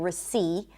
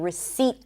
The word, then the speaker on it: receipt: This is why you're not fully hearing it, but I'm not saying receipt. I'm saying receipt. There is a T, but there is no P.